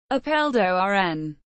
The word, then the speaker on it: Apeldoorn: Apeldoorn, Dutch pronunciation, Apeldoorn, is a municipality and city in the province of Gelderland in the center of the Netherlands.